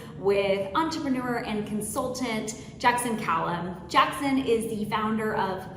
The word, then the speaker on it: Calame: be joined today by entrepreneur and consultant Jackson Callum uh actually let me pause did I pronounced your last name correctly you did it